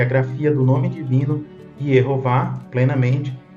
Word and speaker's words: Yehová: com o tetragrama e as vogais E, O e A, para se pronunciar em hebraico Yehová. Em português temos a tradução Jeová. Né?